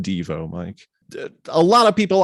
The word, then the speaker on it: Devo: Yes, it's pronounced Devo, Mike.